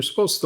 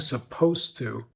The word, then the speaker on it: supposed to: We were, we were, we were supposed to leave, and rather than saying supposed to, I'm saying supposed. So I'm making that word into a one-syllable word rather than a two-syllable word.